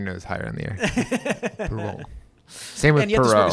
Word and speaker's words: Perrault: The key for French is if the letters at the end are in the word careful, then you pronounce them. So the letter T is not, so it'd be Perrault.